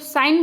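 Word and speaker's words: sign: इसमें भी हम लोग जब साइन बोलते हैं तो जी होता है साइलेंट।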